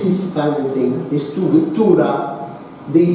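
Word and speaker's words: Tuğra: And this is his kind of thing, his Tura. The G is like an I, okay? This G in modern Turkish, it's like the Maltese I, you don't pronounce it.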